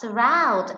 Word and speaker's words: surround: Ví dụ, cứ đọc là surround, mình nghe thấy từ round sẽ nhấn mạnh hơn so với âm s. Thế nên là trọng âm sẽ rơi vào chữ round, chúng ta để ý